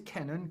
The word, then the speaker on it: Kenan: it it's Gil Kennan and I know it's Kenan cuz you correct to me last time and I've learned what if I change the pronunciation since then it's Kenan actually no no I'll go I'll go with